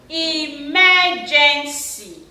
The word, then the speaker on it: emergency: Emergency. Emergency. So you discover that word, the first syllable is not stressed. E, mer is what? Stressed. Gen is what? Not stressed.